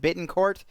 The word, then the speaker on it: Bittencourt: I'm not butchering his last name but but Bittencourt is how you say his last name the